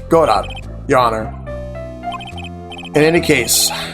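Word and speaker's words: Godot: It's not Gobo. It's God, your honor.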